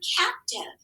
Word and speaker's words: captive: But now let's look at this word captive. Let's mark those syllable types. Look at this first syllable. Whisper to me what it is. Good. It's a closed syllable. And because it's closed, that vowel is short.